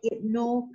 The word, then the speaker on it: Ibnu: Satu ialah Ibnu Khaldun. Okay, IBN ini bacanya ialah Ibnu.